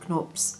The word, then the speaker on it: Knorps: Also, if you're about to tell me that I'm mispronouncing it because it's British, no it isn't, the guy is German, so definitely Knorps, and I asked somebody in the shop, they told me that.